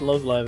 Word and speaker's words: Love Live: It's pronounced Love Live, actually.